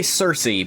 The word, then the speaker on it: Circe: I do wonder if that's correct cuz I say Cersei because that's how Americans say it. But it is ancient Greek and I think it would be a hard I don't think they had a soft C in ancient Greek like it's the old way or in Latin for that matter like how it's Kaisar